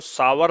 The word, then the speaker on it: sour: ساور، اس کو ساور بھی پڑھا، اصل تلفظ اس کا ہے کیا؟